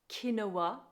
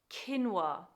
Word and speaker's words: quinoa: you pronounce this word this word is commonly mispronounced as kinoa when actually the correct pronunciation is quinoa kinoa your turn keeping within our food theme